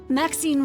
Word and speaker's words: Maxine: of most Exquisite varieties Max seen rhymes with Queen after all and dearest